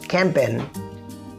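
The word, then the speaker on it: campaign: कैंपेन, कैंपेन कहते हैं मुहिम को, रन अ कैंपेन मुहिम चलाना, रन अ कैंपेन मुहिम चलाना, यहाँ जी साइलेंट होगा, कैंपेन।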